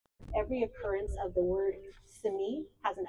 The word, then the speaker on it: Simi: Every occurrence of Simi is not Simi, it's Simi.